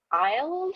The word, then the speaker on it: Iles: And the fifth author that they have is Greg Iles, I believe is the pronunciation.